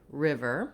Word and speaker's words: river: So first of all, looking at the word river, we have first syllable stress, and letter I says the I sound, like in it and did.